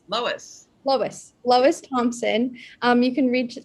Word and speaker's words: Lois: Is it Lewis or Lois? Lois. Lois Thompson. You can reach her Twitter, Instagram, and Facebook. And then the links are Lois is funny, Lois is my realtor.